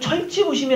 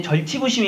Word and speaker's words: 절치부심: 얘기 구요 이번은 요 이건 천체 보심이 라고 보통 발음 하는 사람들이 있는데 절치부심 입니다 설치가 아니요 절치부심 입니다 한자를 보시면 모 씨